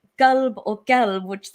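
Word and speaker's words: قلب: And especially because people people who don't pronounce it the right Arabic way and say like, they say kelb as opposed to qal, they are actually reciting it with the word dog in it.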